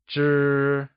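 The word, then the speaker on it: 支: The first one is Zhī Zhī is the Measure word for stick like objects such as pens or chopsticks, and is pronounced using a high level tone!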